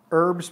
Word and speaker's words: herbs: you know oh yes Archie wants me to say herbs like Martha Stewart does and Archie says herbs without the H stresses me out usually well you know